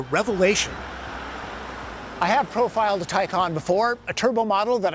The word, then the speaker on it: Taycan: a public service announcement this car's name is pronounced porsche tycon all right tycon not taken that's a liam neeson